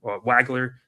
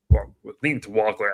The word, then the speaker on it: Wagler: Keon Waggler Wagler actually is how you pronounce it out of Illinois's been coming on strong.